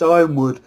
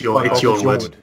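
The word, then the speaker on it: Yronwood: And I'm already predicting people in the comments going, it's not Yornwood, it's Ironwood. Fuck off. No, it's Yornwood.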